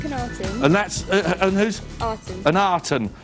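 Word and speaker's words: Akhenaten: and that's and who's arton an arton so a is pronounced R right okay right okay lovely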